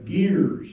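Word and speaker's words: ger: a lot of we we would call yurts but they call them uh gears. It's spelled ge r but they they're called gear camps.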